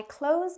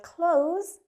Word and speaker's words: close: Sentence number two, I close my eyes before I sleep. I close my eyes before I sleep.